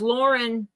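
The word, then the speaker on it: Lorne: knows I know a girl named Lauren that is spelled l o r n she was named after her grandfather Yeah so it's Lauren Lauren Lauren is that what yeah you're right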